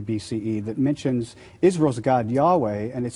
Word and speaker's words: Yahweh: main god, who has the name Yahweh, pronounced something like Yahweh, but they also worshipped other gods as well.